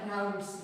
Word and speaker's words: Raoult: आता ह्याचं स्पेलिंग थोडंसं वेगळं आहे, RAOULT. सो राउल्ट्स लॉ.